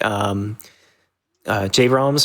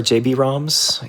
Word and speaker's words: JBroms: Yeah, your runners today are going to be JBroms or JBroms, either pronunciation's okay.